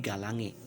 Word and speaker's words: galangae: Contohnya, tulisannya adalah galangae, maka diucapkannya adalah menjadi galange.